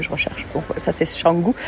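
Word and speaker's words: Canggu: Donc ça c'est Shangu. Alors il dit Shangou mais ça s'écrit C A N G U.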